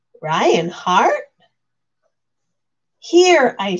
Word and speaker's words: Hart: My name is Ryan Hart, and it's not heart like the muscle. It's H-A-R-T, as in my last name.